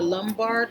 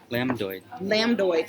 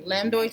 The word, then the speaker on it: lambdoid: The one that runs along the back part here is the lumbar sutra. Lambdoid. Sorry, I'm really bad at pronunciation. Lambdoid sutra.